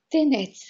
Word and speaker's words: Тенец: Тенец Йордан Радичков. Моля да поставите ударението на последната сричка. Тенец.